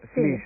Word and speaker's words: flysch: escrito muchas veces pero nunca lo había oído pronunciar flish una palabra alemana verdad qu es Cómo